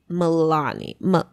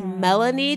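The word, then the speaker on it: Maelanie: And at only 16, she gave birth to her 5-month-old daughter named Melani. So I think it's Melanie type of thing, but it's spelled M-A-E-L-A-N-I-E.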